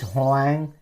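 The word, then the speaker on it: Hoàng: the next one is hang h o a n g so you say Mr hang hang hang so you're getting close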